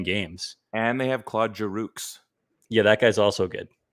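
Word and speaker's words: Giroux: and they have claude jarooks yeah that guy's also good it's a silent x but i'll pronounce it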